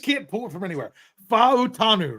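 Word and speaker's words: Fautanu: Fa'utanu, right? Fa'utanu. Yeah. I said it, but he said it again in the podcast. Yeah. Pronounce all the vowels.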